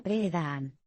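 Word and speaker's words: Pirahã: Este es el caso de los Pirá, que se pronuncia Pre-Daan.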